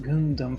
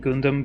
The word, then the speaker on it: Gundam: I'm mildly familiar with Gundam, but and it I'm saying Gundam because that is the Italian pronunciation. The English pronunciation might be completely different, um, and he's a huge fan, like big time.